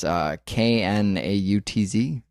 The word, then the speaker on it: Knautz: Before we gloss over him, because I know this is going to happen, John, I think his last name is pronounced Nautz. It's Knautz.